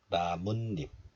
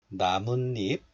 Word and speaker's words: 나뭇잎: So this 사이시옷 is pronounced as 니은, and another 니은 is added as the first consonant in the place of 이응. So 묻 becomes 문, 잎 becomes 잎, 나뭇잎, 나뭇잎.